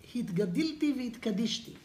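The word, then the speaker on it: והתגדלתי והתקדשתי: Hitgadilti v'hitkadishti. Ah, okay, that's grammar. Let's keep the grammar now. But that's the way to say it.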